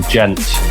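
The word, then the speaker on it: djent: known in the scen as like subg medical gent which is spelled d g e n t and it's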